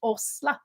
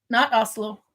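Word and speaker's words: Åsle: Osla. It's actually A with a circle over it. What? SLE Osla. They wanted to know. Oslo? She says, how do you pronounce the Osla stitch? Oslo. Oslo. Not Oslo.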